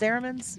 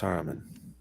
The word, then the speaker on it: Saruman: Oh, is that pronounced Saramans? Yeah, or something like that. Saruman. It's Solomon with an Asian accent. It's Saruman.